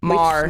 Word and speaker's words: Maher: Mar. Maher. Yeah, we May- say yeah. Mar No. rhymes with star, but you're What?